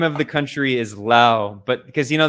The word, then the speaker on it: Laos: Um, but technically the name of the country is Lao, but because you know the French they always add like the silent s's at the end of things even though they don't pronounce it.